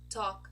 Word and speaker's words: talk: here is the ah oh so Bonk chalk talk stock walk another group where a group of words where we also do not pronounce the letter L are these words over